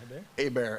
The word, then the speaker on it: Hebert: We'll listen to, how do you pronounce his last name, Hebert?